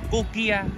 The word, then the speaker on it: Kochia: Cái hoa này nhá, tiếng Nhật ấy, thì đọc là Kokia nhưng mà viết sang tiếng chữ tiếng Anh kiểu là Kochia.